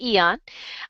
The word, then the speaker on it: Aeon: YH Eon the Eon it's spelled aeon I know but it's called Eon and that decreases stress